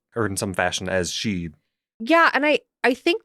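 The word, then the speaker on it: sídhe: accent m uh d h e and it's pronounced she okay sometimes you'll just see s with the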